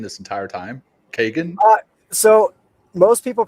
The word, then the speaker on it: Kegan: Kagan. Uh, so most people pronounce the name Keegan, but the traditional Irish pronunciation of the name is Kagan.